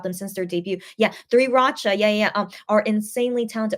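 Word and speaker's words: 3RACHA: Yeah, Three Racha, yeah, are insanely talented. Or is it Suri Lacha? That's how it's pronounced in Korean. I should probably say the Korean way.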